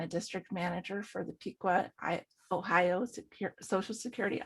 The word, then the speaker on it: Piqua: of cincinnati ohio and marche it's uh it's pronounced piqua but only the people that live there public piqua everybody else pronounces it the same way you